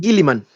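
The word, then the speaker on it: Guilliman: Robot Giliman, así se pronuncia.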